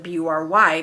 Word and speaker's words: Bury: rather than B-U-R-Y, because if you think of how the spelling B-U-R-Y is to us in the English language, we pronounce it bury, as in bury the dead, which is how my grandmother would always say her name to people on the phone.